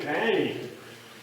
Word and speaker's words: Pany: a woman from China she knew my name panny people think she mispronounced it she said Mr Penny we want to bring